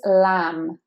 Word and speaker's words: lamb: And this is a silent letter again here. This is the silent B. So here we just say lamb, and we forget that there's a B, so you don't want to say lamb.